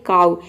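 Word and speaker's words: cow: यहाँ पे हम OW को आउ प्रोनाउंस करते हैं। जैसे कि देखिए ये होता है काउ, इसमें भी लास्ट में OW आ रहा है।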